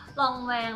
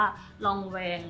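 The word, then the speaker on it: Lanvin: เป็น กับ ไ ตัว นี้ ก็ คือ ยี่ห้อ รอง แวง นะ คะ คือ ครั้ง ที่ แล้ว อ่ะ น เรียก ชื่อ ไม่ ถูก แล้ว ก็ มี คน ใจ ดี มา คอมเมนต์ บอก ว่า มัน ชื่อ เ้า อ่าน ว่า ลองแวง นะ ก็ ขอบคุณ มาก ๆ นะ คะ ก็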